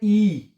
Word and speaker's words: i: आई जो होता है। आई को आपने क्या पढ़ना होता है? ई।